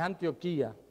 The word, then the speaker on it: Antioquía: allá en antioquía verdad es antioquía con acento en la i verdad que hablaron de